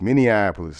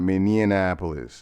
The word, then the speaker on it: Minneapolis: Minneapolis, not Minianapolis. It's not Minianapolis. Minneapolis.